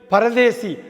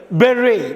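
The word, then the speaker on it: bury: புதைக்கிறது பரி அப்படிங்கிறது தானே, பரின்னு படிக்கூடாது, பெர்ரி. பாருங்கள், பெர்ரி, பியூஆர்ஒய்யை பெரி. இந்த பெரி பழம் இருக்குது பார்த்தீங்களா, பெரி பழம், அந்த பெரி பழமும் பிஇஆர்ஆர்ஒய்யும் அப்படி தான் உச்சரிக்கணும், பியூஆர்ஒய்யும் அப்படி தான் உச்சரிக்கணும். ஸோ நீங்கள் பரின்னு சொல்லாமல் பெர்ரின்னு சொல்லணும்.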